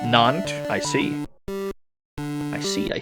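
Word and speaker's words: Nantes: We're headed to Nanties. That's probably not how you say that. Where the hell is that? That could be anywhere. get to buy a railroad for 150. It's French is pronounced non.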